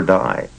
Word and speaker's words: Dai: people would ask him what's the correct pronunciation day or die and he would smile and say say either or either okay you say you're